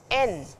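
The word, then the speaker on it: 円: Now, yen or en in Roman, yen in Roman English or N in Japanese. N is the Japanese currency and it is written with a Y and two bars here.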